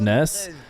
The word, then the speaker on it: Nas: Remember Nas being pronounced Ness? That's because that's what he said. Nasim. It was closer to Ness.